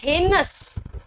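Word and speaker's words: heinous: इसको कहते हैं हेनस, इसका प्रोनाउंसिएशन क्या है, हेनस। अब एयर बच्चे ने पढ़ा होता है ना तो इसको एनस पढ़ रहा होता है, क्योंकि उसे लगता है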